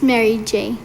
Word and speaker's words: Mary J: It's Mary J. Mary J. Okay. Just like it's spelled.